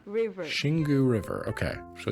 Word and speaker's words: Xingu: The Xingu River. Xingu River. Okay, so even though it's got an X, pronounce it a Xingu River.